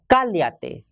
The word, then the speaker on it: cállate: So, the positive command of callarse is cállate with an accent on A. The first A carries an accent. Positive command of callarse is cállate with an accent on the first A.